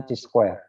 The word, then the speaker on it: chi-square: Itu membacanya chi-square.